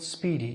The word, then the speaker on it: SPDY: all this protocol called Speedy spdy pronounced speeding Speedy is an experimental